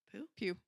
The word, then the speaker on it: Pugh: Pew.